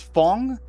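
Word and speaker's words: Fang: 12th Suie sibling because their name is Fong, which is spelled F A N G just with a little hyphen over the A.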